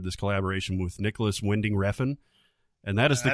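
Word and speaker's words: Refn: movie has started this collaboration with Nicolas Winding revin and that is the correct way to say his name I would have never guessed reffing was right yeah how an American would pronounce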